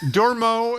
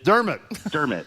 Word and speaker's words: Dermot: Let's go to, is it Dormo? Is that how you pronounce it? I'm sure that's brutal. In Worcester. How close was I? Oh, Dermot. It's Dermot.